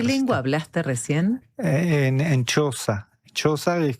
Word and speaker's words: Xhosa: Xhosa sería Xhosa. Pero ellos lo pronuncian Xhosa.